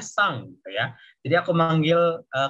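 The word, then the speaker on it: さん: Terus setiap, Oke, jadi misalnya sakura, tulisannya sakurasan ya, tapi kalian bacanya sakurasang. Ya, jadi N-nya itu baca eng, sakurasang. Jadi setiap manggil nama orang di Jepang itu pasti ada san-nya gitu, tapi bacanya sang gitu ya.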